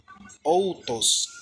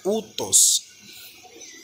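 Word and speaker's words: οὗτος: Aqui nós não vamos pronunciar outos, nós vamos pronunciar utos. Porque o O mais o Y, ele tem o som de U, como no nome Jesus.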